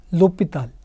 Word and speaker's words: L'Hôpital's: something else called the LHpitals rule. So, it's pronounced LHpitals. So, it's L with an apostrophe and H O with a symbol. This is French, and it's called LHpitals. So, the H is silent, and actually this word